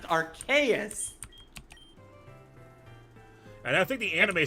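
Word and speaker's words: Arceus: find the real sling and now now it's archus which is actually the more emically correct way to pronounce it Aras okay Aras AR I'm going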